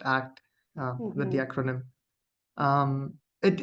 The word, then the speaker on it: ACT: acceptance and commitment therapy which is usually pronounced act with the acronym um